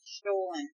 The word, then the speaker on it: Stollen: Stolen. S-T-O-L-L-E-N. But it's pronounced like a stolen.